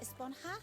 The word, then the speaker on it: Esponja: pronounced Esponja with an H sound at the end. Really? But we've all been saying Esponja.